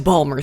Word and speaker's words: Baltimore: innuendo it's just a balmer thing okay pronounce that word baltimore ball more b-a-l-m-e-r the point is even